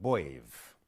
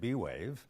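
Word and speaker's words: B'Wave: It's called Wave. You can pronounce it B-Wave, but you'll be wrong. Let's get back to the name. Why is the trick pronounced wave? The answer is because it is a contraction of the word brainwave. And so it is properly pronounced wave.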